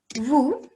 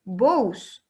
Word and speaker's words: vous: Por ejemplo, en el pronombre vous, ya vieron que no se dice vos, sino que la O con la U hacen U, simplemente.